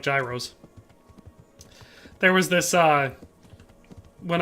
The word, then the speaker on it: gyro: for the Super Chat always loved that five euros keeping me alive I love Gyros by the way like the Greek food a